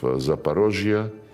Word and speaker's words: Zaporozhye: And when we now liberate remaining parts of Zaporozhye, this is the Russian way to pronounce it, and Cherson, the people,